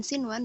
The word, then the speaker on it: sinwan: Untuk dua kata ini kecuali dunya dan sinwan dia maka bacanya tidak didengungkan, maka jangan didengungkan tetapi bacalah dunya dan sinwan.